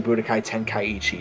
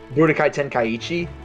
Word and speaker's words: Budokai Tenkaichi: done that style ever since Dragon Ball Z Budokai Tenkaichi did really well. How do you even say that name? Yeah, like Say how do you say that Budokai. without messing it up? Budokai Tenkaichi.